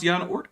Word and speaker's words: Jan Oort: Blocka Delator says, you pronounce Jan Oort correctly. Well, that's because I know what to do with a J when it's coming from most Germanic-speaking countries, other than, like the English-speaking ones.